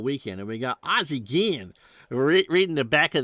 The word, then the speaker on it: Guillen: And we thought it was going to be Guillen. You pronounce those double L's as kind of a G, but it's Guillen.